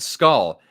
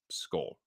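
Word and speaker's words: skål: little circle so um when it has when it's a with that little circle over it it's pronounced like O So skull yeah uh Josh dobs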